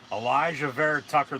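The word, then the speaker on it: Alijah Vera-Tucker: they take Elijah verit Tucker that's how you pronounce Elijah ver Tucker the guard to play anywhere on the offensive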